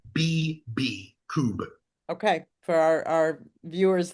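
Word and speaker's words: Kubb: So for people who are interested how do you spell that? K U BB coup.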